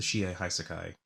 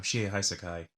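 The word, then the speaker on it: Shie Hassaikai: works the he I the Shia hai Sakai I guess said it wrong the first time she hai Sakai and figure out what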